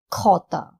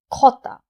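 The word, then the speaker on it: jota: D, D, E, E, F, F, G, K, H, H, I, E, J, Kota. Be very careful, we pronounce J as Kota.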